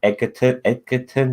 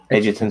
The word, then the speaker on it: Edgerton: It's good to see Joel Edgerton back. Edgerton, sorry, my bad.